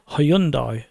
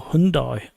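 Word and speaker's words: Hyundai: Logitech mosa rat and hyundi or Hundai however you want to pronounce it and there is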